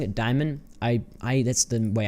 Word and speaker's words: Daimon: spelled similarly to demon you sort of pronounce it I guess like demon see here's the thing I'm pronouncing it Diamond I I that's the